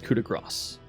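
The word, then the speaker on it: coup de grâce: I was corrected by a French speaker, and they said it was coup de grace.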